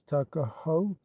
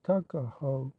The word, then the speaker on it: Tuckahoe: Eastern Shore men usually pronounce the word took as tuck, Tuckahoe, therefore, is in Maryland parlance Tuckahoe.